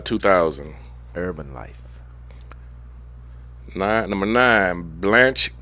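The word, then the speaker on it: Blanche: I be saying his name wrong. It's B L A N C H E. I said Blanch. Blanch. K. Bruce. Sound like Blanch to me.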